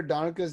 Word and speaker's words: Donica: The reason why I remember Donica's name being Donica because it rhymes with harmonica.